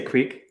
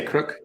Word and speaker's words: creek: Okay, so how would you say this word? Creek, like a little thing with water in it. I'd say creek. Creek. Okay. Yeah. Some people say crook. Yeah, I met a guy in the mountains of Colorado when I was elk hunting. He was from Pennsylvania, and he called it a crick.